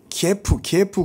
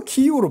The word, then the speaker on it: 키이우: 원래 키예프는 러시아식 발음이지 우리 우크라이나식 발음으로 해달라. 이래서 또 우리나라 사람들은 착해. 그게 빨리 또 방송을 타갖고 다 또 키이우로 바뀌었어.